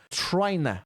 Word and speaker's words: tryna: Note como que as pessoas falam tryna. Trying to fica tryna.